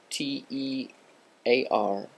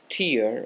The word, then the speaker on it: tear: tear, or that the word T-E-A-R is pronounced tear when it refers to the stuff coming out of your eyes, and tear when it refers to ripping something apart, let me know.